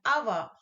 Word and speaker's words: hour: The Rajdhani Express runs at a speed of 140 kilometers an hour. Again, it is used in the sense of per or one. And hour, R sound is a vowel sound. H is silent here.